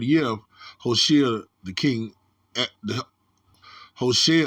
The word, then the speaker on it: Hoshea: Now it came to pass in the third year of Hoshea, the king, Hoshea, I think you pronounce that Yahushua, son of Eli, king of Israel, that Hezekiah, the son of Ahaz, king of Judah, began to reign.